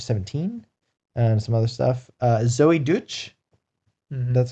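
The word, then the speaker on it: Zoey Deutch: Zoe Deutch.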